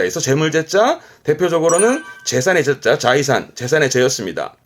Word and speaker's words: 財産: 자이산. 조심할 거는 재능제의 경우는 발음이 사이로 가고 나머지들은 자이료, 자이 발음이긴 합니다.